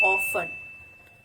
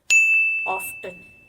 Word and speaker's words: often: The first pronunciation is often. Often. It's the British pronunciation, while the American pronunciation for the same word is often. Often. So the both pronunciations are correct.